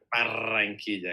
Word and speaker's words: Barranquilla: in Barranquilla. which Barranquilla. Barranquilla, exactly.